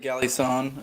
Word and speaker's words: Galison: Galison, is that how you pronounce it? I usually pronounce it Galison.